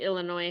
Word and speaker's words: Illinois: Illinois and it's obviously Illinois had Native Americans and it's very ingrained in our culture there and we don't pronounce the s but when the movie